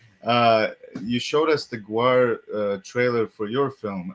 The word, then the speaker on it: Gwar: did an interview you showed us the the Gwar uh see I'm pronouncing it correctly now yeah we learned something tonight uh you showed us the Gwar uh trailer for your film and then well